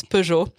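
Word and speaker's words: Peugeot: It's Pujour.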